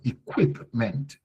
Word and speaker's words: equipment: correct equipment use and equipment pronounced with W equipment so equipment equipment Isso.